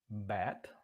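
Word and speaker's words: בת: Bat, I think is the way that's pronounced.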